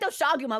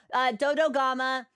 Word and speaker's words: Dodogama: I want to say it like Doshaguma, which is not right. Dodogama and Azure Rathalos.